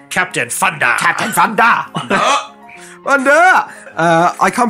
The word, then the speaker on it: Captain Funder: This guy's called Captain Thunder, but spelt with an F. So I didn't say that in a stupid way. For anybody out there, it's like this guy can't pronounce his THs.